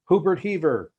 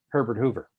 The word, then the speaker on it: Herbert Hoover: dressed in evening clothes introducing the chief executive hubert hever it's actually pronounced herbert hoover